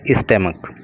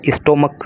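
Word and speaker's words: stomach: ए bullet grazed past आज़ाद स्टमक। ये स्टोमक नहीं होता, स्टमक होता है इसका प्रोनाउंसिएशन, ठीक है।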